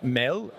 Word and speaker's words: MAD: into this organization uh Mel as it's pronounced in Danish means food but also in English